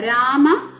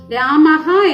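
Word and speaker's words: രാമഃ: ഹായുടെ പകുതി ഉച്ചാരണമേ പാടുള്ളൂ. ഉദാഹരണം നമുക്കിവിടെ നോക്കാം. രാമഹ, ഇത് ശരിക്കും വായിക്കുന്നത് രാമഹ എന്നാണ്. രാമ എന്ന വാക്കിന്റെ കൂടെ ഈ 2 ഡോട്ട് വിസർഗം ഇട്ടപ്പോ ഇത് വായിക്കുന്നത് രാമഹ എന്നാണ്.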